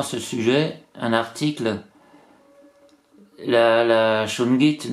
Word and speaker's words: shungite: Alors j'avais lu également ce sujet, un article, la shungite, donc ça se prononce shungite, est tout à fait profitable pour la longévité de nos animaux de compagnie.